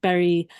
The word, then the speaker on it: Bury: Bury is spelt Bury, but it's pronounced like berry, like a raspberry or a strawberry.